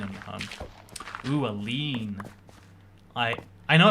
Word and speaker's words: lien: Ooh, a lien. I know it's actually pronounced lien, even though it looks like lane.